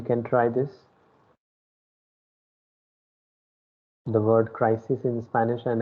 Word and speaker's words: crisis: So when you say I is pronounced as the letter E of English. Okay, so it is crisis.